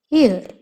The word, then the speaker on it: heir: And second most important word is varis or uttaradhikari, which means heir. So H is silent here.